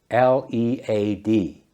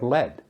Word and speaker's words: lead: L-E-A-D. Pronounced lead. It's a heavy metal. The old pipes were made of lead.